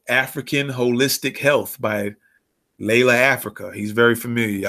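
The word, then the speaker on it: Llaila: African holistic health by Layla Africa he's very familiar I know Layla Africa or some people pronounce it Lyla Africa all right African holistic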